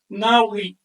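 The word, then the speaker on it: nahui: Cuatro puntitos valen cuatro y se pronuncia nai de la misma raíz na que le da nombre a nahual.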